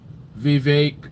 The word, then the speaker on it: Vivek: strategic than Trump right Vivek rhymes with cake imagine what they could